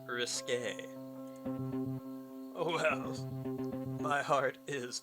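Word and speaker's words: risqué: your idea of risky it's actually pronounced risque oh wow my heart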